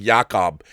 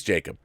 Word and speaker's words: Jakob: That's Jacob Fudge, although I keep saying Jakob because it's spelled with a K. But he's Jacob.